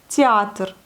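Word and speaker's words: театр: Théâtre, théâtre, théâtre. Vous voyez le E ici, le Y ici, il se prononce comme entre Y, théâtre.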